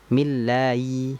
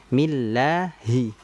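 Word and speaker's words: بِسْمِ اللهِ: Millai, millai. Nah, ini kan kurang tepat. Jangan sampai kita membacanya bismillahi. Harusnya kan millahi.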